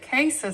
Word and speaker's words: cassia: The reason we do not use store-bought cinnamon, which is known as cassia cinnamon, or some people may pronounce it casa cinnamon, is that it doesn't have as much coumarin in it.